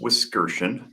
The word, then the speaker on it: Wiskerchen: um it is pronounced whiskers so thank you description not chin no uh the emphasis is on the middle syllable if you will and uh i am